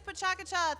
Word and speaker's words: PechaKucha: We thought we would get some more exciting pronunciations than that, but it is PechaKucha.